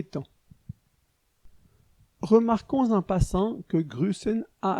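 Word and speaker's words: grüßen: remarquons en passant que grusen a un autre type de lettre le S cette espèce de B majuscule qui se prononce s en Suisse on écrit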